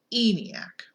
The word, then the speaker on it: ENIAC: Army built a computer called E and IAC pronounced eeny AK to help the u.s.